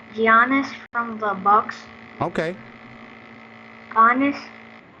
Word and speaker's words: Giannis: Yep, Giannis. That's how you say it. That's the proper way to saying it. Giannis. I was saying Giannis for the longest time, but then someone said no, it's Giannis.